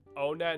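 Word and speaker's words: Onett: Onet and on-et and one-et are both valid ways to pronounce it, yeah.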